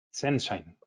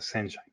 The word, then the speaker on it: ZNShine: Aquí la E es muda en las letras, sin embargo en la pronunciación lo recomendado es incluirla. La E que va entre la Z y la N es de grafeno, recuerden eso. Entonces nuestra marca se pronuncia Senshine.